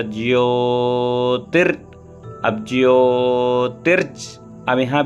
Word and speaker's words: ज्योति: अब एक चीज ध्यान दे, बहुत लोग ज्योति बोलते, ज्योति नहीं, ज्योति, ज य मिलके जिया और ओ की मात्रा ज्योति।